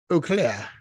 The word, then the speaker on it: Eau Claire: but yeah and and Eau Claire like an eclair yes how cool is